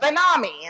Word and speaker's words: BenAmi: And he wrote back, it's E-L-A-W-N, like, salami. So, but BenAmi instead of salami, which gets me to say it, BenAmi.